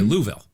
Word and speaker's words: Louisville: Louisville I'm telling you I'm sorry Louisville that's how they say it in just three years